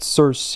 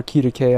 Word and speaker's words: Circe: Let's talk about Circe, or Kirike as I call her, and that triggers people because it's like, oh, how dare you use the intended pronunciations? I'm American, her name is Circe.